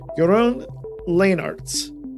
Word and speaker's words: Jeroen Leenarts: host leo dion today we have with us your own lane arts hey everyone or uh app force i should